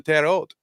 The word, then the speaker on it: Terre Haute: you going and so she pronounced it in French you know I'm going to tear old and they're like huh